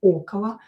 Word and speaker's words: около: So, вчера мы встретились около, not stressed, will be pronounced as около школы рано утром.